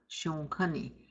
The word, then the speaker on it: Shonkani: Then we have Shonkani. You're going to nasalize the O.